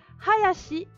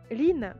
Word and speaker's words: 林: Quand vous avez deux arbres, ça se prononce hayashi en lecture japonaise, ça veut dire un bois. Et la lecture an, du coup, ça sera lin.